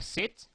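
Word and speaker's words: cet: or or that uh say can be pronounced you will hear some people say say or set or set well feel free to use either one okay so use set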